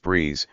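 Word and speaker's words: BRIIZE: And it hopes to continue expanding its fan base, known as RIIZE, pronounced Breeze, with the June 17th release of RIIZING, the first mini-album.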